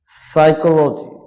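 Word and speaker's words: psychology: time of pronunciation P silent pneumonia মানে pneumonia সাইকোলজি silent পিল silent মানে মানুষ তত্ত্ব বা মনস্তাত্বিক বা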